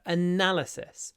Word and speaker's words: analysis: your helpful analysis so now the stresses on the second syllable so make the nut longer analysis analysis analysis then we've